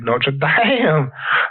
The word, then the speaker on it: Notre Dame: Should we talk about Notre Dame? Oh yeah, which is that's the correct French pronunciation of that.